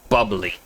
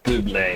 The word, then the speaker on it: Bublé: So can we have a drink over here called Bubbly. And it was the advertisement then had Michael Bublé, and it was all about how he pronounces it, instead of as bubbly, it's Bublé. He's like, I think I know what it's called.